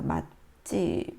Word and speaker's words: 맛집: 맛집은 발음이 어떻게 되나요? 예, 음절의 끝소리 현상에 의해서 발음되어 있고요. 음절 끝소리 때문에 음절 불파 현상에 의해서 뒤에 있는 소리가 이제 예사소리가 된 소리로 발음됩니다. 맛집 이렇게요. 이거는 된 소리 되기 현상이에요.